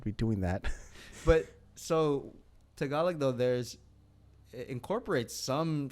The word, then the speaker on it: Tagalog: focuses on it's called tagalog so it's for people that are like how do you spell that just think of like tagalong with the cookies but like more emphasis yeah yeah so like